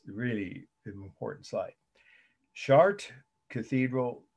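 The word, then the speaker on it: Chartres: really an important site chart cathedral facade and that's the french pronunciation for the city in france where it it it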